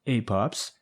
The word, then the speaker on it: APOPS: Sherrie is the founder and CEO of the Association for Pelvic Organ Prolapse Support, APOPS, pronounced APOPS.